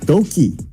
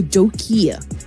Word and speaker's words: Doki: Oh, by the way, fun fact, so Mr. Doc L is actually pronounced as Doki. Oh, Doki. Yeah, Doki. So we can take it as an I.